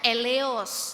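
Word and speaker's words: ἔλεος: lihat bahasa aslinya ya Ini bacanya eleos Ya bahasa Yunani kata belas kasihan dalam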